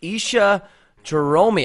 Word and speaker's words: Isha Jahromi: We are live right now with Isha Jahromi. I pronounced that right, correct?